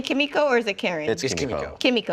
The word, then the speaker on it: Kimiko: show or as some people randomly call her kamiko which bothers me yeah it bothers me too because uh because uh frenchie calls her husband by kimiko which is right how you pronounce it and